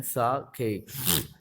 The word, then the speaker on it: sake: ये साके, इसका प्रोनाउंसिएशन है साके.